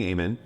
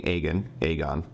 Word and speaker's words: Aegon: And it turns out, like you said, it's Sunfire and King Aemon, King Aegon. There we go. King Aegon, said it right.